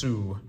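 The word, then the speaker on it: Hasu: Um and it is Hu, I believe, is how you pronounce that. H A S U.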